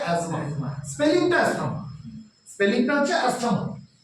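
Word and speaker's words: asthma: উচ্চারণটা কিন্তু ইসথামাস না উচ্চারণটা ইসমাস ঠিক যেমন অনেকে আমরা ভুল বলি অনেক ডাক্তার উপরেও বলে ভুল এসথামা উচ্চারণটা হচ্ছে এসথামা না উচ্চারণটা হচ্ছে এজমা স্পেলিংটা এসথামা স্পেলিংটা হচ্ছে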